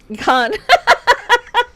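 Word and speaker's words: Cannes: हाउ यू pronounce it the way you can Khan. Yes, that's right.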